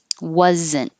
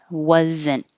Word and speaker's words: wasn't: Wasn't. Wasn't. Same thing. You don't hear the T. Hold it. Wasn't.